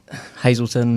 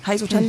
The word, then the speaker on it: Hazelton: pronounce your name right there multiple pronunciations of it Hazelton normally Hazelton Hazelton Hazelton either way it's all right you're not going to